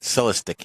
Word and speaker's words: Celestiq: How do you pronounce Yeah, it? that's the one I was talking Celestiq? about. Celestic, yeah.